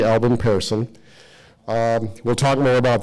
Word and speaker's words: Pehrson: GA peon and I grew up knowing his name as Pearson but it's actually Parson as you'll find out he is from Sweden came over to the US and if you really want to say it properly in Sweden you'd say peran I'm going to go with Parson okay gustoff Albin paron